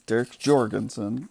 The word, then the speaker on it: Jorgensen: It's not Derek Jorgensen. It's Derek Jorgensen. Like, just like it sounds, spells like it's, you know, like Spanish. Every letter is pronounced. No silent letters.